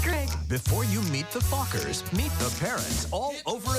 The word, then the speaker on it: Fockers: do you pronounce it oh just like it's spelled f-o-c-k-e-r Meet the Fockers in theaters December 22nd